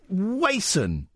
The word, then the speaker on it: Wason: Lee Catherine Bole Wendy now it's Wason thank you so much for pronouncing it right somebody called me Wendy